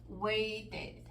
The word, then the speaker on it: waited: cambio en la pronunciación fíjense como wait que a la hora de ponerlos en pasado separamos dos sílabas waited need a la hora de